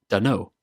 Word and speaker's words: dunno: This is a contraction of don't know. The t in don't gets dropped and the 2 words join together to become dunno.